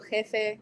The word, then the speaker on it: jefe: The J, it sounds like an HA, kind of. It's just like an H instead. So jefe, it's just a little bit more like an H.